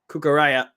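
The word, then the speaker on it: Cucurella: finally found out how you say his name cucaraya once again kukure with a cross cucure's cross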